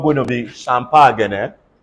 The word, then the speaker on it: champagne: carry on so basically we are phlegmatic um c-h-a-m-p-a-g-n-e pronounce this word for me it's not fish champagne